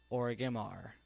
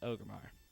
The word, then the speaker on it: Orgrimmar: thought about its pronunciation, so I used to call it Orgrimmar. I forgot that extra R that's in between the G and the I. Now I know my mistakes, and now it's Orgrimmar.